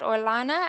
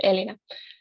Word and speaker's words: Elena: thank you um and elena i hope i'm pronouncing that orlana am i pronouncing that correctly yeah the first one is right elena um my question would